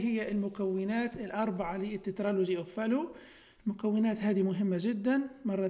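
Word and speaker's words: Fallot: نبدأ بأول ديسوردر اللي هو تترالوجي أوف فالو، طبعا تترالوجي يعني هذا مكون من أربع مكونات، تترا يعني أربعة وفالو طبعا التي سايلنت لا تنطق فينطق فالو، اللي هو ديسكريبشن للشخص اللي قام بوصف المرض هذا.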